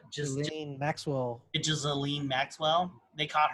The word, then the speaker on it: Ghislaine: Yeah, it's G-H-I-S. Yeah, Ghislaine. Ghislaine. Ghislaine or something like that. Maxwell. They try to say it. They try to make it sound pretty, but it's like, then why is it spelled like that?